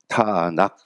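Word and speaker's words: תנ״ך: 그래서 음절을 붙여서 이거를 키읔 발음 나는 것과 니은 발음 나는 거 그리고 키읔 발음이 나거든요. 그래서 타낙 해서 이들이 얘기하는 게 요 세 글자를 따가지고 부른 겁니다.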